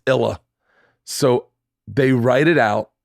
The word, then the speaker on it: Isla: name she goes dad trust me they're gonna say it wrong it's illa so they write it